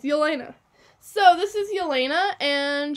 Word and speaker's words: Yelena: It's Yelena.